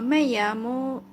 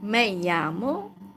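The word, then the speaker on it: me llamo: It's 2 L actually, but it's not pronounced as L. It's like Y. uh like in the word yamo cold like I am cold like mayo may my name is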